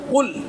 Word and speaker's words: قل: دیکھیے، اگر صحیح تلفظ کی ادائیگی نہیں کیجیے گا تو معنی بدل جاتا ہے. قل، بڑا قاف، دو نقطہ والا قوف، قاف مطلب قل، کہیے، فرمائیے. اور کل، چھوٹا کاف والا کل، ایک معنی کل کا